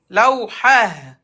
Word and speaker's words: لوحة: Quand il y a le T fermé, se prononce comme لوحا Laou. لوحة Non, regarde, le T fermé, t'enlèves T et tu mets Ha à la fin.